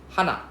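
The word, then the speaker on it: 花: hana hana right then the flower one is hana like the you know the Korean way of saying one right Hana. So hana is we are ending with a higher sound, right?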